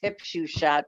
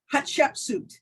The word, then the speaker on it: Hatshepsut: pronounce it, I always say it's hip shoe shot, but it's not that. It's the Hatshepsut. one, what is it? Hatshepsut.